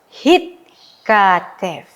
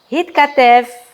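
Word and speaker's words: הִתְכַּתֵּב: Hitkatev. Ya, masih ingat? Karena dia adalah konsonan kedua. Ya. Yang di mana konsonan sebelumnya itu juga memiliki sewa e memiliki nikud. Ya. Jadi kita membacanya dengan hitkatev.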